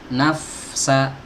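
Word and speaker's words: نفسا: Kalau diucapkan nafsa, makhrajnya udah bener. Ya, yang salah di mana? Salah di sifatnya. Sifat rokhawah, sifat hams ini kan harus ditunaikan. Ya, dan pastikan huruf fa ini dibaca dengan tipis.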